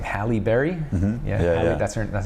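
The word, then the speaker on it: Halle Berry: more like um I don't know how to pronounce her name Hal Berry yeah that's her that's how you say her name Hal Berry she was like dark she's my ex-girlfriend was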